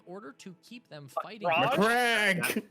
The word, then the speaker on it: Macragge: Macragge! That pronunciation. Macragge!